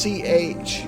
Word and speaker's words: Cthulhu: No, close. It's just Chulu.